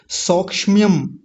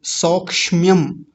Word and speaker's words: सौक्ष्म्यम: लिंगात, अभी आया था लिंगात, परम अलिंगस्य सौक्ष्म्यम, सौक्ष्म्यम, सौक्षम्यम नहीं बोलेंगे, कुछ लोग इसका गलत उच्चारण करते हैं, सौक्षम्यम ऐसे बोलते हैं। सौक्ष्म्यम, क्योंकि क्ष जो है और म जो है दोनों आधे हैं।